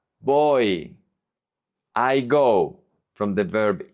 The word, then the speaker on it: voy: If the Y is at the end of the word, it's pronounced like a vowel.